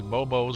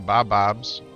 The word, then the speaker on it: Bobo: Got one of these bobos or bob-bobs. Gotta pronounce it bobo, but it could be pronounced bob-bob.